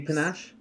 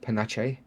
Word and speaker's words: panache: to features you see panache click that actually it's pronounced Panacea it's actually pronounced pan ache thank you very much